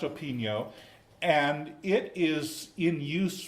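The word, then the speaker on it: Opigno: management system called open Neos and this is pronounced open yo natto Pig mo spelled o Pig now pronounced open yo and it is in use by a lot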